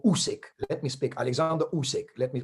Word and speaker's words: Usyk: Usyk, or Usyk, let me speak, Alexander Usyk, let me pronounce it properly.